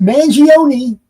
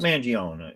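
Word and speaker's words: Mangione: Uh if you say his name right, Chuck Manion. No. More people might recognize you, but you know him. Well, I called him Chuck Manion. You know, he is silent.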